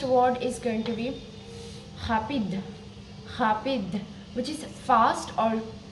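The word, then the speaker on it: rapide: It is going to be like okay, so now let's pronounce it with vowels. So the first word is going to be rapid, rapid, which is fast or quick, rapid in English.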